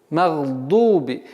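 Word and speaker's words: مغضوب: Магдуби.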